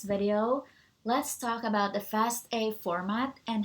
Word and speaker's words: FASTA: let's talk about the fast a format and how to create fast a file so what is a fast a format it actually is pronounced as fast a because it stands for fast all which refers to the